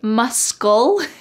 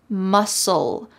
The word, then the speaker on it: muscle: Notice that the C in the word muscle is silent. Do not say muscle. Instead, it's just muscle.